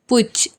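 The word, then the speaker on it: putsch: जेंसी या फिर पुज इसमें एस साइलेंट है पुछ या फिर ट्रिजन सेडिशन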